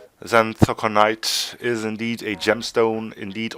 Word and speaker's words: Xanthoconite: And we have called the beast the Xanthoconite. I think that's how I'm sure it's pronounced. We did end up checking that. Bit of an interesting thing about that name. Xanthoconite is indeed a gemstone,